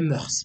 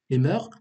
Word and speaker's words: mœurs: ولا les mœurs. نقدروا هاد الكلمة هادي نقدروا نطقوها كيف بغينا. Soit les mœurs أو لا les mœurs.